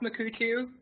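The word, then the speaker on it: Mukurtu: one I was going to talk about is makuu tube which is pronounced makuu tube but spelled in UK u RT u um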